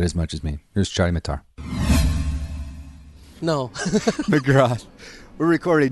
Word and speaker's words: Chady Mattar: Just it's Chady Mattar.